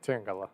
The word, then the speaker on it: Tangela: Tangela? Tangela? I didn't have confidence in pronouncing it. Yeah, Tangela.